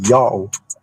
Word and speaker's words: Yao: Well, now that we already have these evidences that this name is pronounced Yao, how it is read Yao according to the ancient Hebrew phonetics.